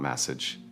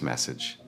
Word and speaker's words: message: The ending is soft. It is not message, it is message.